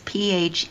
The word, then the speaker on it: Phelan: So Phelan is Phelan. Thank you. That's right. It's spelled Phelan, Phelan, but not Phelan, but it's pronounced Phelan, Phelan.